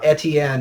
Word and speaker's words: Etienne: late and onside low I'm gonna call him etienne because that's my middle name and that's how you pronounce it I don't care he's from Louisiana pronounce it like a Louisiana in that ring an